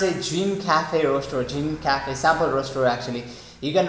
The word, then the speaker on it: Gene Cafe: which is pretty much easy to use it's pronounced a dream cafe roaster or jean cafe sample roaster actually you can roast it in